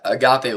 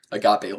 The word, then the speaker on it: agape: Our lives should, if you could describe our lives as Christians, it should be agape love. I'm pretty sure that's how it's pronounced. Agape. That's always always how I've heard it pronounced.